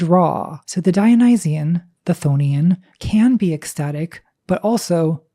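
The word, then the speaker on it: chthonian: I pronounce it thonian.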